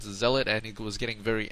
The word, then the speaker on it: Zealot: special announcement is uh someone said that I should pronounce zelot Zealot and he was getting